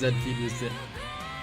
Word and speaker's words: Zfeel: Zfeel is pronounced Zfeel. Like the anime robot, you know?